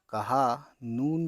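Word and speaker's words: کہانی: है ये और छोटी है लेकिन है ह साइलेंट इसमें मतलब मतलब ह की आवाज साइलेंट है छोटी ह की तो ये छोटी है ये काफ ज़बर क छोटी है और अलिफ ज़बर ह कहा नून छोटी नी कहानी छोटी है ज़बर ह मीम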